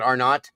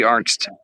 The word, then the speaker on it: Arnst: I mean No, that's good because for those of you that aren't familiar, how do you say her last name? Is it Arnot? No, it's Arnst.